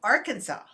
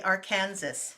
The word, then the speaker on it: Arkansas: sunny right there in arkansas i'm saying it right i always wanted to say our kansas yeah because it's like arc with the kansas on it i'm sure you hear